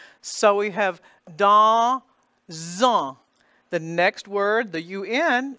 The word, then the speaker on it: dans: The D-A-N-S is pronounced dans. The D sound becomes the symbol, D. The en, the nasal vowel, is there because the spelling is A-N.